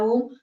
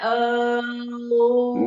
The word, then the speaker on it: ओम: से बना हुआ है ओम तो इसका उच्चारण भी ऐसे ही करना है अम नहीं करना तो ऐसे ही है